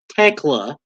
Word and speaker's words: Thekla: I called her Thekla. Tekla. There's an H in there, but you don't pronounce it.